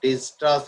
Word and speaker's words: Dijkstra: That algorithm is known as the Dijkstra's algorithm, K is silent.